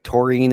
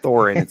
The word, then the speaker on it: Thorin: uh torine Oaken Shield I'm saying it correctly torine is how you say his name it's not Thorin torine torine Oaken Shield he played he's actually